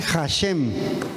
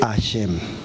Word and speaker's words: Hashem: dice Hashem, se dice ashem. Ah, perdón, maestro. Silja mora. Chiljá. No, moré. Discúlpeme, maestro. Sí. Entonces, ¿cómo se dice? Ashem, pero le pone una H. Sí, pero esa no se pronuncia.